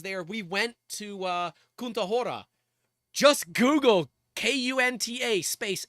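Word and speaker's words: Kutná Hora: It's Kahora. Excuse me. K U T N A. Kahora. You'll look, you can spell it wrong and you'll still figure it out.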